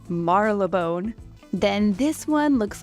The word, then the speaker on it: Marylebone: So like this one, it looks like it says Marylebone, but it's actually pronounced Marylebone.